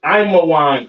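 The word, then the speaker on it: עמון: Ammon, all right, Ammon, which is Imawan in the Hebrew.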